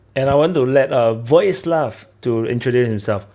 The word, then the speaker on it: Vojislav: And I want to let Vojislav to introduce himself. He did write J is silent, so I'm not going to say Vojislav, Vojislav.